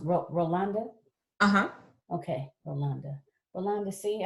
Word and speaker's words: Rolande: Your name is pronounced Rolanda?